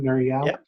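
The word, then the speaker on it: Nir Eyal: Nur Eyal?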